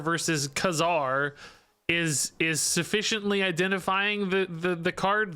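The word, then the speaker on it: Ka-Zar: are spoken aloud foreign it's pronounced like czar I don't know I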